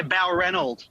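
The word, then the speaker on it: Balranald: Jason, did I get the pronunciation right where you are? Yeah, Balrundle.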